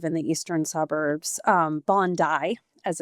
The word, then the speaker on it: Bondi: Um Bondai, as it's pronounced.